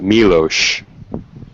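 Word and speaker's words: Miloš: foreign I know it's his name is pronounced milosh m-i-l-o-s I know he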